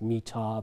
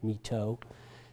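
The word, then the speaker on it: Mỹ Tho: Actually, in Vietnamese, pronounced Mi Tho, but all the veterans pronounce it as Mi Tho.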